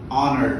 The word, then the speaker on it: honor: And we have something called honor, wherein you do not pronounce the letter H as an hour.